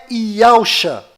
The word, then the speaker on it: Yahusha: E a pronúncia é Yahusha.